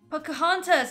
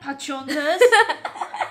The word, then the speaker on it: Pocahontas: Pocahontas, not Pachontas.